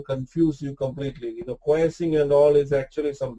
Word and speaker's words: quiescing: This quiescing means it's actually pronounced as quiescing. Okay, quiescing. I don't know, people pronounce it different way. So typically it's called as quiescing.